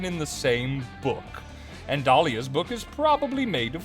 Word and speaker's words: Dahlia: My name has a silent H in it? Girl. Yeah, Dahlia. It's after the A and before the Leah.